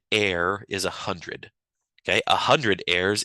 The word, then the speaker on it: are: So in the metric system, we have air, which looks like R, but is pronounced air.